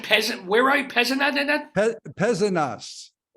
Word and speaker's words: Pézenas: Pézenas. We pronounce the S's, at least in the South.